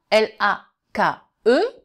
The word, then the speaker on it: lake: Maintenant, L-A-K-E, donc avec un E muet, ça va faire lake, lake, a lake, lake. Le A est une diphtongue, lake, a lake.